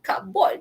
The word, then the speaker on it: cupboard: Itulah dulu masa sekolah dulu cikgu sahabat kat kita cupboard kot, no? But it's actually silent P. Cupboard.